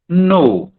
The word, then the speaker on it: know: IKNOW, नो, इसको कहते हैं नो, हिंदी में नौ ओ मात्रा नो, ऐसा लिखेंगे तब मुझे उच्चारण होगा।